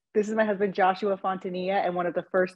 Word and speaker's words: Fontanilla: mispronounced that as well the L's are silent so yeah like your knee fontania fontania guys I I should